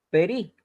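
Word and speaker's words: פרי: Entonces, cuando estos dos puntitos ya están debajo de esta consonante al comienzo de una palabra, o sea, en la primera, en este caso en la primera sílaba, va a sonar como una E breve, que la BIM, ¿ya? Lo mismo sucede con este otro ejemplo que tenemos acá. Ahí dice perí, perí.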